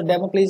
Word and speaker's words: Damocles: तो इस वर्ड को थोड़ा सा, डेमोक्लीस अगर आपके लिए नया है तो इसका राइट प्रोनाउंसिएशन देख लेना एक बार, डेमोक्लीस, डेमोक्लीस, ठीक है।